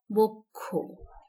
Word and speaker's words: বক্ষ: সবশেষে রয়েছে যুক্ত খ আদ্য অ এর পরে যদি যুক্ত খ থাকে তাহলে সেই অ এর উচ্চারণ হবে ও এর মতো যেমন এখানে আমরা দেখতে পাচ্ছি বক্ষ সঠিক উচ্চারণ বক্ষ ব এর পরে অ